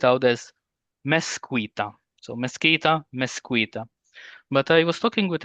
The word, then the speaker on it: mezquita: So mezquita, mezquita. But I was talking with another Spanish friend of mine from Valencia, and he said actually it should be pronounced as mezquita.